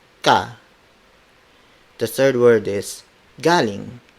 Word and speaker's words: galing: Galing, spelled as G-A-L-I-N-G.